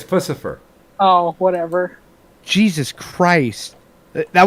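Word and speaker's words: Puscifer: the lead singer of piece of fire would you shut the up and kill yourself no no it's not pronounced piece of fire it's pussyfur yeah it's pussyfur oh whatever jesus christ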